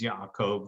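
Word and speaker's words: Yaakov: practice very literally and i actually use hebrew pronunciations of their names yahkov this in this case instead of jacob and so when jacob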